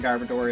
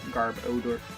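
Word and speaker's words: Garbodor: Took me a long time to realize that garbador is probably important into uh garbage and odor because the spell spelling I keep pronouncing it as garb odor odor.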